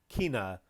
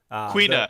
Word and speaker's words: Quina: Now, final character 7, Kina, Kina. How do you say that? Quina. It's Quina, yeah.